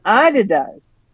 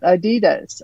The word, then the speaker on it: Adidas: The correct pronunciation is Adidas. Oh, not Adidas.